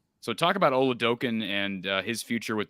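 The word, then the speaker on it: Oladokun: about uh you know am i pronouncing it correctly when i say olodokan yes so talk about ole dokin and uh his future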